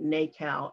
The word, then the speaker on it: NACAL: the program was okay we pronounce the acronym nacao n-a-c-a-l that means navy artist